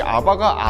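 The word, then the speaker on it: אבא: 개역개정 을 써 보면 아바 아버지 라고 나옵니다 2 아바 라는 단어가 우리나라 말로도 아빠를 아빠 라고 하잖아 근데 이 아바가 아람 으로 아빠를 아빠 라고 해요 그러니까 아빠 더를 아바 라고 하는 거죠 우연치 않게 우리나라 말이랑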